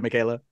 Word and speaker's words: Michaela: now she has reimagined Volume 2 Mahal Miss Michaela chanowsky Holland and I hope I didn't mispronounce your name right there Michaela now you're good you're good I love it